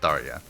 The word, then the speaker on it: Tharya: tiredness thank you zarya i was calling her tarya last time and i think that's more of a a finnish pronunciation but i'm pretty sure in the game she's pronounced tharya had to think about that